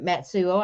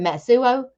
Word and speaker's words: Matsuo: not have thought and matsuo I think I pronounced your name a little wrong in my introduction when I did intro early I think I'm in Matsu but matsuo matsuo matsuo yeah oh okay I have